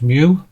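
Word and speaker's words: μ: This symbol is pronounced mu.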